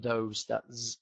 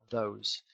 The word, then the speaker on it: those: got an O, though, making an O shape with your mouth, though, and then those, and that's a long sound as well, those.